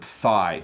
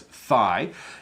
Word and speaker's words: thigh: good evening what is the correct way to pronounce the word thigh so it is thigh it's the part of your leg above your